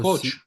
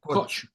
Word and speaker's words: Koç: I don't know how you pronounce it. KOC. Koç. Yeah, Koç. Yeah, Koç Corporation.